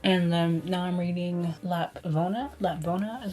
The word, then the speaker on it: Lapvona: Made Maddie Run, and then now I'm reading Lapvona is how you pronounce it.